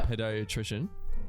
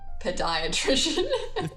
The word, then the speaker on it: pediatrician: Pediatrician? Pediatrician, not podiatrician. It's pediatrician.